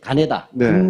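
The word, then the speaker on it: 金田: 보국단 발기 예 노란색 가네다 전이라고 김전이라고 읽지 않습니다 일본 사람들의 입자에서 읽어야 되잖아요 창시 개명한 이름인 거죠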